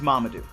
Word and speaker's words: Mamadou: poojay it's so simple my name is mamadou not armadillo not marmaduke not mumu if you want to